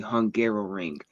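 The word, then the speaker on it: Hungaroring: don't know the name, it is called the Hungarrow Ring. It So it does sound like I was just mispronouncing Hungary trying to say it a second time.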